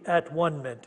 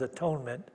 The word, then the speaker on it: atonement: We are all joined in the at-one-ment. She doesn't pronounce that as atonement. That's at-one-ment here.